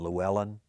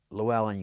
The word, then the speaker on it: Llewellyn: All right, that double L in Welsh, I know how to say it, but I can't always do it. You form your mouth as if you're going to say L, like la la la la la, and then when you say Llewellyn, you